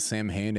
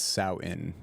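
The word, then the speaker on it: Samhain: admonished uh by the edit Bay it's not Sam Hayne it's sow in oh who can that's how you pronounce it that's how you pronounce it but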